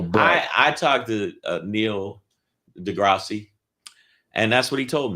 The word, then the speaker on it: deGrasse: on the planet on a TV show called Degrassi. Wait a minute. Did I say it wrong? Neil deGrasse Tyson is the Neil deGrasse.